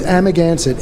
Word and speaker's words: Amagansett: old Indian Montauk at tribe word so it's Amagansett a.m.